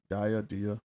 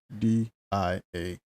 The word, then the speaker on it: Dia: Dia. How you spell it? D-I-A.